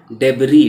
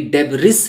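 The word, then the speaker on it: debris: चुके थे from the डेबरी। डेबरी का मतलब होता है मलबा। ये डेबरिस नहीं पढ़ेंगे, एस साइलेंट है।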